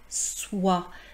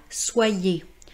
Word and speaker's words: soie: Regardons cependant le son la \swa\ Vous voyez il y a bien les lettres o plus i et il y a le E mais on ne dit pas \swa.je\ Encore une fois, j'ai